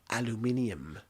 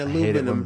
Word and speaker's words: aluminium: aluminium aluminium these giant aluminum british people say it like that dude it's like it's aluminum if you look aluminium if you look at a box for aluminum foil there's an eye there yeah it's aluminium jaguar